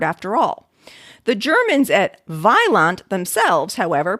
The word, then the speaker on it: Vaillant: Now, here in Belgium, we use, of course, the French pronunciation, which stress on the last syllable, a Y sound in the middle, and a nasal at the end.